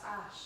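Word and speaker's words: Æ: the A is pronounced Ash.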